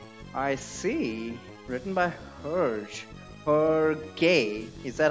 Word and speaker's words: Hergé: Hergé. Is that how it's pronounced? I always pronounced it as Herge. Obviously, there's a... that... whatever you call that E.